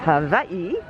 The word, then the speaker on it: Hawaii: location on the list hawaii yes it's a w and it pronounced a v now we've been